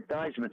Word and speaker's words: Theismann: high school back after after teisman whose real name is stiesman you know is it really yeah he changed it when he was at notre dame to rhyme with heisman oh good good trivia